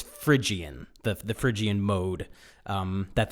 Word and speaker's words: Phrygian: it right but he's i think he said phrygian but it's phrygian the phrygian mode um